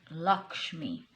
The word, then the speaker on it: Lakshmi: Yes, it's pronounced Lakshmi.